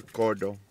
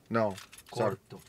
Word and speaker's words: corto: I'm going to ask our barber, Douglas, to give me what they call here cordo, which is... Corto. Corto. I had to say it right.